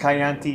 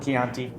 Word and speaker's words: Chianti: Sometimes pronounced Chianti. Don't do that. Call it Chianti.